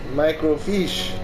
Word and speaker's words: microfiche: Microfiche. That's right. That's how it's pronounced.